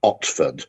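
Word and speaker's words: Otford: I nearly was traveling to London is called Oxford which is spelled o-t-f-o-r-d well I mean forget about asking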